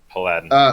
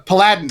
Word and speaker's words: paladin: Like Like Aladdin. I get it. Aladdin but- with a P.